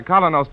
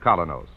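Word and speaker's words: Kolynos: minute Mr Keane is broadcast to you by colonos toothpaste after all is said and done all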